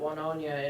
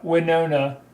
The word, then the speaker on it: Winona: It'll hit Wanonia in 25 minutes from what this says. Yeah, Winona.